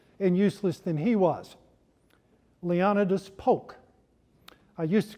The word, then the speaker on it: Leonidas: even more pompous and useless than he was leonidas polk i used to call him leonidas but i have a friend who has a